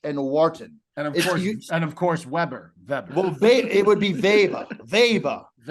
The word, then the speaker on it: Weber: see if they pronounce Weber oh that's I'm saying no it's a German pronunciation you don't pronounce a w got it got it